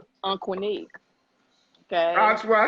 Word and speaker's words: Aunqunic: Aunqunic.